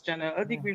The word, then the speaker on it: General Degree: Yes, it's General Degree from Jamaica.